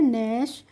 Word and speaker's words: gnu: इसी तरीके से GNASS को हमने पढ़ा है नैश। और GNU को पढ़ा है नू। ऐसे ही हम इनको पढ़ते हैं, इनमें जी का प्रोनाउंसिएशन नहीं करते।